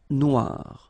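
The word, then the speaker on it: noire: the feminine form but then you don't pronounce it okay so phonetically it is exactly the same Noir Noir Okay g don't pronounce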